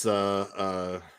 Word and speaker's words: Zach: It's Zach Charbonnet and Is he French? Charbonnet rhymes with Chardonnay.